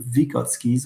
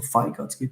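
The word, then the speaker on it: Vygotsky: Yeah, that's based on vikotsskis or vigotski. Two pronunciations are possible socio cultural theory and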